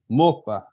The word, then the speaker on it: Moskva: You don't even pronounce the O fully. The Russian city of Moskva is actually Moskva, Moscow.